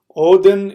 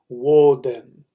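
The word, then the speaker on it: Woden: basics in case you don't know so oin Odin is the pronunciation uh of the Scandinavian uh people but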